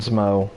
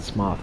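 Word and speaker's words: Smough: alright usually I just nail a born and SMO SMO I got to stop saying SMO and go I got a now that I know what's actually pronounced golf and smoth I gotta start doing that right I want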